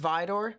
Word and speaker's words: Vidor: It's pronounced Vidor.